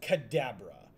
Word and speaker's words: Kadabra: sticking the landing um no no it's it's pronounced Kadabra was the Pokemon um 2002 was the last